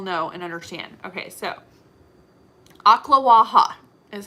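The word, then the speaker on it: Ocklawaha: in ocala will know and understand okay so aqua waha is how you actually pronounce it it is an actual town it's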